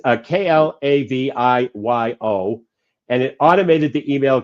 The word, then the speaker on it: Klaviyo: A couple of my clients have that tool, and of course I can't pronounce it right. But it's Klaviyo, and it automated the email campaigns.